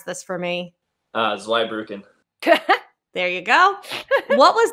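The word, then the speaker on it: Zweibrücken: chicago fire you 23 two you need to pronounce this for me uh zweibruken there you go what was that progression like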